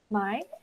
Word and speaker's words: Mai: So I think Mai, if you could go up first and do your speech, please. Oh, yes. Hi. Sorry. Thank you. Yeah, it's just pronounced Mai. My name is Mai, and I guess I